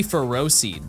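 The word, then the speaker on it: Ferroseed: And then um it has to be ferro seed because it's ferris like iron.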